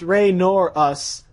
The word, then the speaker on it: Roris: what exality is roris it's pronounced RoR us and I'm M spirit